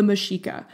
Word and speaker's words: Mexica: Okay, and I'm going to be a little snooty here, but the actual name for this group is the Mexica, but everyone knows them